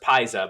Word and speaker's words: Pizza: named um stephanie pizza her last name was literally pizza p-i-z-z-a and she said it was uh pronounced paisa because obviously you would do that because it came from a pizza but uh yeah i